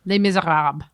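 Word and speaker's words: Les Misérables: If you were to say like the real French version, Les Miserables.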